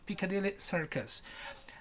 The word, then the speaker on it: Piccadilly Circus: like like you put your mouth like if you were going to say an e a right a elephant but you said circus circus almost like with a smile almost piccadilly circus if you go to